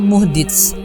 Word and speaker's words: muhdits: Ibnu Asir menjelaskan, kata muhdits dalam bahasa Arab memiliki dua cara baca, muhdits dan muhdats.